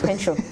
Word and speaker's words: kensho: I'm learning so many things, including Concha. So, no. Is it Kensho? Kensho. Oops. Kensho.